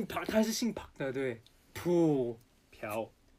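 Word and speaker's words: 朴: name is Park,right -Pu -Piao -It's pronounced as Piao,Piao×4,Piao Shi,Piao Piao It's so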